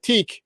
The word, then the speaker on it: tech: And when he says teak, he means tech, because they say they pronounce T-E-C-H as teak.